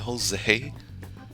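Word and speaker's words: José: What the He pronounced a J and Jose. Who does that? It's supposed to sound like an H.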